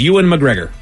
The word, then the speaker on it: Ewan McGregor: So you go Ewan McGregor. I say Ewan. You say Ewan. Ted, break the tie. I would say Ewan McGregor. Ted and Miles, you guys are correct. It is Ewan McGregor.